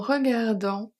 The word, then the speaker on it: regardant: En regardant l'horizon. Regardant, the final T is silent, final T, and the first H, no, not the first, the only H in horizon is silent as well.